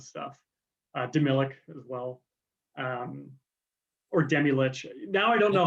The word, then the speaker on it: Demilich: I'm not sure how he actually pronounced it. Oh, wait, I saw an interview. It is Demilich.